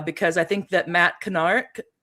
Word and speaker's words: Kennard: Um uh uh guys, uh because I think that Matt Canard, how do you say his name? Matt Canard. Yeah, Matt Kennard.